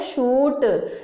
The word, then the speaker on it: chute: जैसे कि CHUTE, इसको हम क्या बोलते हैं? शूट। जैसे आप बोलते हो ना पैराशूट, तो उसमें श की आवाज़ के लिए क्या लिखोगे? CH लिखोगे।